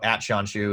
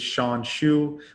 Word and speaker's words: Shawn Xu: So @Shawn Xu is my handle on Twitter, and on LinkedIn, you can just search my name and you'll find me.